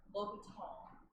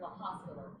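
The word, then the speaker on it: L'Hôpital: So another random tidbit of derivatives is L'Hospital's rule. L'Hopital. But it's spelled like La Hospital.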